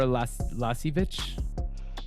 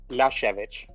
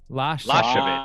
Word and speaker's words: Lyashevich: Is it the K? No, No, it's it's Ukrainian. the H sound at the end. Shall I say it now? Yeah, go for it. Yeah, I want Lyashevich. Lyashevich.